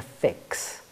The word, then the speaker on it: Phixx: We walked past this pub called The Fix. The Fix was spelled P-H-I-X-X.